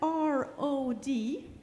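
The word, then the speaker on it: Rød: It's spelled R-O-D, but it's pronounced Rod. It's very difficult with Danish.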